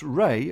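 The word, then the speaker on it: RAI: And they're working on doing just that with an update to their tool, which is pronounced RAY, and it stands for Recruiting Artificial Intelligence.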